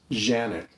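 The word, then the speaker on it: Canik: but believe me it's a turkish company it's pronounced janet this has been a fantastic pistol for me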